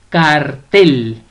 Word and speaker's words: cartel: Cartel. Cartel lleva la mayor fuerza de voz o la sílaba tónica o el acento prosódico en la última sílaba.